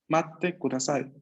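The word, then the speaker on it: 待ってください: Matte kudasai.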